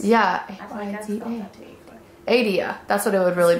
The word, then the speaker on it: Aydah: I think you got it, Aydah. Because her name is spelled A-Y-D-A-H. But you don't pronounce the H whenever you say Aydah.